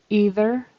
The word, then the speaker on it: either: Either, there should be a voiced TH in the middle of either.